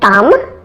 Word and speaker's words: thumb: the B for example it's easy to spot most silent bees most of them are where the B follows the letter M at the end of words some exams example include thumb bomb and comb in addition the largest